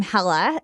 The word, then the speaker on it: Hala: Arabic, you pronounce my name Hala, and it means welcome, which is I'm a podcaster.